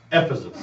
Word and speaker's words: Ephesus: Ephesus is how you pronounce it.